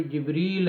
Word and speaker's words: جبریل: میں جو جبریل ہے، اس کا جبریل بھی ہے ایک تلفظ، اور ایک جبرائیل بھی ہے، یعنی کہ الف کے ساتھ بھی ہے، دونوں طرح یہ نام پکارا جاتا ہے، لکھا جاتا ہے، بولا جاتا ہے، درست ہے۔ 44، بے